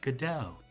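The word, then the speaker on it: Godot: but I still think gdo sounds better do robot Oh shoot that's a good point yeah but the play that it's named after is pronounced gdau I think I like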